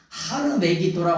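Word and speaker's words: הר מגידו: 산이라고 하는 그 메기도 우리가 아마 돈이라 그러지만 전혀 근거없는 발음 하르 메기도라 하는게 뭐냐 찌 는 사녀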